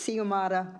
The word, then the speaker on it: Xiomara: So she tells me phonetically it's Xiomara.